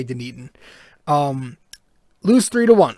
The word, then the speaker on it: Dunedin: we had with the yankees i uh completely butchered it i did not say dunedin i did not say dunedin i'm not going